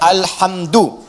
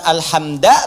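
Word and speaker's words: الحمد: Dibacaannya alhamdu, bukan alhamda pakai fathah atau alhamdi pakai kasrah.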